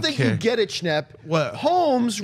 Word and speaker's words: Holmes: you get it schn Holmes rhymes with gnomes oh my God play